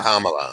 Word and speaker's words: Kamala: It's like comma, like a comma. Yeah. Kamala.